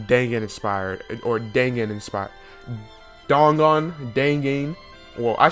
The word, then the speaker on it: Dangan: Dongan.